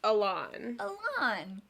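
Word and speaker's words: Alan: how i said it haley said that it was elan is it a lawn it's a lot okay it's fantasy elena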